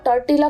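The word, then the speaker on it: tortilla: फुल्का कहते हैं दोस्तों अंग्रेजी में रोटी और ताटीला कहते हैं इस शब्द में डबल एल साइलेंट है इसलिए इसे बोला जाता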